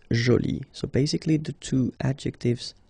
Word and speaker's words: jolie: you can see that you put this uh but then you don't pronounce it okay so it's Jolie so basically the two adjectives masculine Jolie and feminine Jolie are